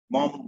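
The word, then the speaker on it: Maugham: by william somerset more you should take note of the spelling model because the spelling is really doesn't uh give the pronunciation real pronunciation if you pronounce it according to spelling that then you cannot pronounce it correctly uh m-a-u-g-h-a-m it's more the story the luncheon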